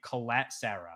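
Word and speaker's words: Collet-Serra: it the same and I've learned he does pronounce his last name Colette Sarah so like the last name part is Colette Sarah but but the but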